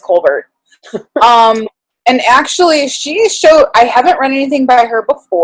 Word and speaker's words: Colbert: I always want to say Colbert. It's spelled like Stephen Colbert, but I think it's Colbert.